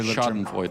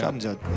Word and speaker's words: Schadenfreude: The Schadenfreude. Yeah. Is that how you pronounce it? Yeah. You know, Schadenfreude. Yeah. Schadenfreude. Yeah. You gotta try and make it sound. The whole German twang.